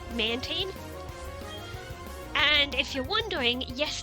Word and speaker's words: Mantine: which is really annoying and uh so is mantine of course or is it mint? So, here's the thing. I heard somewhere that it is Mantine officially.